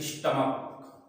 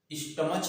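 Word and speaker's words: stomach: इसके बाद जैसे स्टमक, स्टमच नहीं पढ़ते हैं, क्या पढ़ते हैं, स्टमक, का पढ़ेंगे तो इसमें भी क्या जोड़ेंगे, एस जोड़ेंगे।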